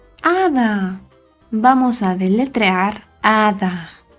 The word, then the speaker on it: hada: Recuerda que la H no suena. Hada. Vamos a deletrear hada. A. Da. Hada.